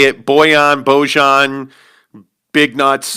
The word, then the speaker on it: Bojan: It depends on who you ask. I generally say Bojan. If you flip on the Jazz broadcast, you'll hear multiple people say it Bojan, Big Nuts.